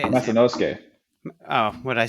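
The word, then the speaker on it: Masanosuke: Spencer Lee, Ono Masanusuke. So close. That's how you say it. How do you say it? Masanusuke.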